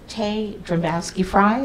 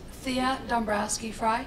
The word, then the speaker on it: Thea Dombrowski-Fry: And then we have it's Tay Dombowski-Fry. Is that correct? No, it's Thea Dombrowski-Fry.